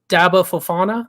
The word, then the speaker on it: Daba Fofana: then full back uh daba fofana that's actually how it's pronounced I had to look